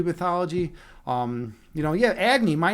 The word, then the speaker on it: Agni: though in Hindu mythology um you know yeah Agny my name my name is is is one of except it's pronounced agy in in Hindu mythology I pronounce it Agy